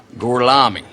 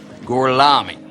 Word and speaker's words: Gorlami: Lo pronuncio correttamente? Sì, corretto. Gorlomi? Per cortesia, me lo ripeti ancora. Gorlami. Mi scusi, con me? Gorlami.